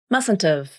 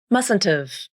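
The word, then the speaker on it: mustn't've: I mustn't have gone with you. Here's how you pronounce it. You drop the H in have and reduce the vowel to the schwa, just like you did before.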